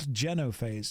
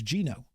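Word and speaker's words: genophage: species especially the Tans it's not genase it's Geno it's definitely pronounced Geno it is don't at me on this it is pronounced that driven from their home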